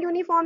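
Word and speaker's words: uniform: क्योंकि यूनिफॉर्म की स्पेलिंग क्या हो गई, यू एन आई एफ ओ आर एम, यूनिफॉर्म। अब स्पेलिंग भी उसकी यू से स्टार्ट है और प्रोनंसिएशन भी उसका यू से ही हो रहा है, इसलिए हम वहां ए यूज करते हैं।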